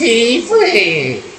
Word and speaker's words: Tiefling: By the way, before people get in the comments and go, it's pronounced Tiefling.